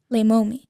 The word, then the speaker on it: Leimomi: And then uh but but your name I I always pronounced it lay mommy, but it's actually lay mom.